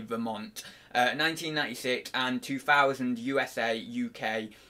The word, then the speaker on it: Vermont: is Vermont I always I always think with a silent T on Vermont so it's like Vermont but it's not it is actually Vermont 1996 and 2000 USA